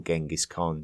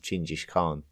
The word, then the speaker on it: Chinggis Khan: I like to be respectful to the native tongue, so I'm more likely to call Genghis Khan Chinggis Khan, just more out of respect for that change.